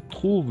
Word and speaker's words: trouvent: Les chasseurs, los cazadores, les chasseurs vont dans la forêt et trouvent le loup. ¿D'accord? Aquí cuando les digo 1000 veces, ¿no? La ENT no se pronuncia al presente exacto, no se pronuncia.